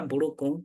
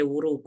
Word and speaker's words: buruku: Trouser buruku or maburuku. You cannot say wuruku. No, it won't make sense.